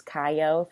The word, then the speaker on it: Kiyo: a relaxing vibe like I do believe is how pronounce it it's kayo featuring space Moses on